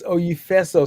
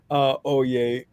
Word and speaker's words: Oyefeso: Yes, Oyefeso. See, I'd have messed that up. I was thinking, Oye. See, now that you've said it, the right pronunciation is in my head, you know?